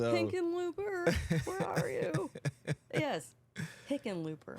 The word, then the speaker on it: Hickenlooper: Yes, Hickenlooper. Hookalooper? Like it phonetically, it looks like chicken looper.